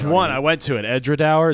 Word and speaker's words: Edradour: The tour guide said it's Edradour as in flower.